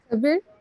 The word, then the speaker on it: Kabir: Is it Kabiru? I'm just spelling his name. Aisha, pronounce the name, please. Kabir. Pronounce his name. Kabir. Hey, you pronounce it well, Kabir.